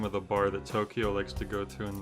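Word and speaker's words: Tokio: there's a person named tokyo in the silver case yeah it's spelt um with an i instead of a y but either way yeah it's the exact same pronunciation everything tokyo uh yeah he's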